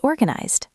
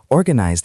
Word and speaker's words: organized: Organized, it ends in a Z sound, which is voiced, so the ending is a D sound.